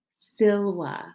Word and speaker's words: silva: next we have siloa silva remember those v's are pronounced like w's latin and this is